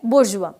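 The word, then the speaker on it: bourgeois: Third word है बुर्जुआ, जो कि इंग्लिश वर्ड में फॉरेन वर्ड है बुर्जुआ, प्रोनाउंसिएशन भी डिफरेंट है।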